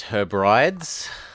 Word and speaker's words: Hebrides: It's pronounced Hebrides.